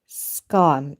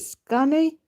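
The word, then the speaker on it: Skåne: And a second born is Prince Oscar Carl Olof, Duke of Skan. Is it Skan or Skane? SKA with an accent on the A and then NE. Is it Skane?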